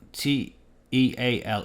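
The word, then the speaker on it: Teale: Um, but on the other hand, the Teal T E A L E, I think it's pronounced the teal, uh, Golden Gate brings affordable studio living to revitalized Naples property.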